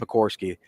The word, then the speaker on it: Pekorski: Pekorski. I always want to leave the R out for some reason.